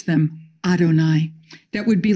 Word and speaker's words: Adonai: as YHWH, that should be pronounced Yahweh, we pronounce them Adonai.